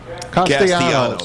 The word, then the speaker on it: Castellanos: Castellanos. Okay, Castellanos.